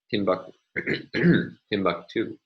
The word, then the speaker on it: Timbuktu: Here, we have a primary stress on the final of three syllables.